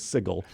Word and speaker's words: Sigil: compelled the creator of yes but the official pronunciation is sigil and sigil which is this doughnut-shaped city so